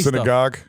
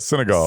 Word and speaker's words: Senegal: How do you say it? Senegal. Senegal. Okay, Senegal. SE.